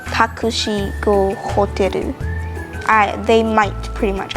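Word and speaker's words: タクシー: take a taxi to the hotel you say takushi and hotel now you might also if you want to say it simply you could just say takushi i they might pretty much understand that unless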